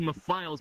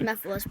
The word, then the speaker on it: Mephiles: Oh well, it's pronounced Mephiles, but yeah, whatever. Make sure to subscribe to Mephiles. I've heard so many people call me Mephiles. Like, one person called me Mr. Phyllis, and like.